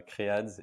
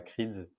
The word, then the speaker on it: Crads: le CEO de crads je dis bien créads et pas creeds parce que j'ai déjà eu des retours de la part de potes qui prononcer ça pas très bien donc crad qui est